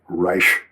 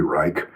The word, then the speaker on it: Reich: Wilhelm Reich re ei proper pronunciation is rich like that with a soft sh at the end because it's Austrian not German. In Germany it would be Reich, but in Austria it's rich. What will Helm Rich uh